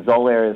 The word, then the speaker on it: Xolair: in the clinical study the zolair is spelled with an x x o l a i r and it's